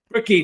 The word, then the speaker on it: Bricky: Is it Brickley or Brick? How do you pronounce it? Bricky, Noel. Bricky.